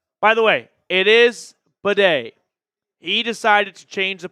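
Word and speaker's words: Badie: He said that it was Beatty. He never said anything, but ultimately he addressed it to the media and said, by the way, it's pronounced Bidet.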